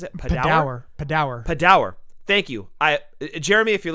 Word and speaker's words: Padawer: I always mispronounces it. Padawer.